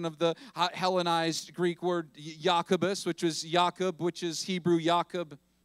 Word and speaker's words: Jacobus: it was translated into Latin Jacobus underwent a pronunciation change it went from Jacobus say yakubus to yakamus all right a chain a pronunciation